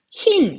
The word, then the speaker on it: 흰: 요거 한번 해 볼게요 흰 같은 경우에는 다른 거 생각할 필요 없습니다 왜냐하면 초성이 지금 뭐예요 자음이죠 초성이 자음이면 뭘로 발음하라 했어요 지금 대답해 보세요 초선이 자음이 무조건 2로 발음하라고 했었죠 자 그 다음에 무늬